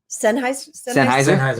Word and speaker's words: Sennheiser: Sennheiser? Yeah. I said Sen. I pronounced it wrong, but she I just